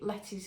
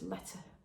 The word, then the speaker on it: Lete: This is Penny Kewick by Justina Lorkowska, aka Letty's Knits, which is spelled L-E-T-E. Letty. My sort of English accent wants to say Letty, but I think it's letter.